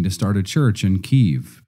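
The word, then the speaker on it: Kyiv: start a church in keev pronounced keev in 1994 since then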